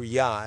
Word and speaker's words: Yah: ja or the Hebrew yah if you pronounce it like the German Jews to you will the J will be a Y sound.